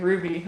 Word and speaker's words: RWBY: really like that ruby it's pronounced ruby or rwby ruby okay that probably makes sense that's i mean i guess you could pronounce w that way why not um no i